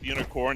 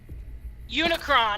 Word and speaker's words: Unicron: and a comic geek i don't like earth unicorn namely because uh you can't do giant robots